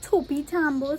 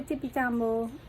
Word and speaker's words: Topi Tambo: Spelled like Topi Tambo, so I don't know why we say Tippy Tambo. It's Topi, T-O-P-I.